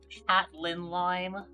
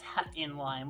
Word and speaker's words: hatinlime: That's probably why cuz people mispronounce my name as uh hat lin lime sometimes because I think the they think the I is an L but no it's hat in lime but they pronounce it as hatin lime.